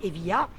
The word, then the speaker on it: Evija: Donc Evia, et c'est qui s'écrit Evija, mais on dit Evia.